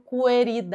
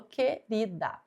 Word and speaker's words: querida: E, querida, dígrafo também, porque aqui nessa palavra o que e o U tem apenas um som. Eu não falo coerida, eu falo querida.